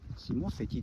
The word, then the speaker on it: 下関: 下関下関ですねはい下関って読読むよですね開業は 1931